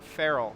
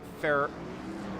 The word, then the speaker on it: Farrell: I'm glad you said Avery Farrell, because I've always mispronounced it. I think Farrell. So it is Farrell.